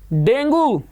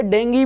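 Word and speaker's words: dengue: डेंगू, जिसे डेंगी भी कहा जाता है, प्रोनाउंसिएशन सही तो डेंगी है, लेकिन आमतौर पे डेंगू कह दिया जाता है।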